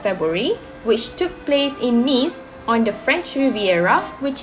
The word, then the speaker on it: Nice: Alright, before I start to explain more about this carnival, you must be wondering, is it actually pronounced as nice or Nice?